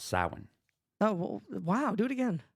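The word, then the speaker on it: Samhain: you're not Irish which is why I can pronounce saan oh wow do it again sa that's hot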